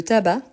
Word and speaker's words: tabac: par exemple euh le parc euh euh le tabac dans les ces sensl ah mais on ne prononce pas mais c'est masculin l'estomac donc il